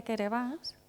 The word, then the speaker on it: Kiribati: Y entonces la gente de Kiribati, que se pronuncia Querebbas decía, pues la Unión